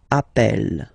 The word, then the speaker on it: appel: form Double L so when you get this a vowel and then you get a double consonant and well they are the same then it does change the pronunciation of uh you tend to pronounce it like e e really open that's the reason why you pronounce it app Appel okay Appel Appel Appel